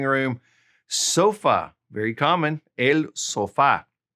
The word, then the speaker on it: sofá: Sofa, very common, el sofá. El sofá, accent on the A right there.